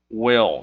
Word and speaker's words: will: Esse will quer dizer vai, e esse will é importante você pronunciar o som do L, que ele não é will com som de U, mas sim o som de L. Will, som de L, quer dizer vai.